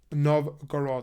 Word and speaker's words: Novgorod: he obliged and he eventually settled in novog nov gorod I always get this pronunciation wrong Novgorod um and he settled there